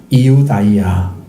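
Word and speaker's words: Ἰουδαία: 원래는 이걸 줄여가지고 유다라고 읽습니다. 이우다이아 이렇게 읽어야 됩니다.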